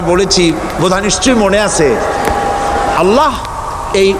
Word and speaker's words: আল্লাহ: আল্লাহ এই উচ্চারণটা আমাদের অনেকের হয় না, কেউ বলে না আল্লাহ। আল্লাহ পাকের উচ্চারণটা হচ্ছে, আল্লাহ পাকের নামকরণ হচ্ছে আল্লাহ। মুখটা একটু গোল হয়ে যাবে, বলেন আল্লাহ আল্লাহ আল্লাহ।